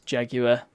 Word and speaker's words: Jaguar: It's Jaguar. That's how it's pronounced.